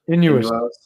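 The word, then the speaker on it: Innuos: Inuos.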